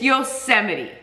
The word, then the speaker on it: Yosemite: And I said I'd never do it again, and sure enough, I pronounced it wrong again. It's Yosemite. Olympic and Sequoia.